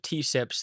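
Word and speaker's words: TSIPs: Um, So yeah, on the topic of T-SIPs, that's how I pronounce the acronym, by the way, in case anybody's curious. It's kind of teapot type thing, T-SIPs.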